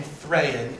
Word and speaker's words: Thráin: odd Choice really because the a in thran is not a vow it is itself a and that doesn't make any sense why would you do that so you're going to have an angle siiz long a and Then followed by a short e i I don't know